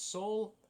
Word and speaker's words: Saul: how do you pronounce Saul like that Saul s a l it's uh like Paul but with an S was I depressed before